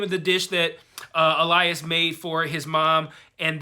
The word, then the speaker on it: Elias: But I do want to point out, they pronounce his name Elias in the show, not Elias, but it's spelled E-L-I-A-S.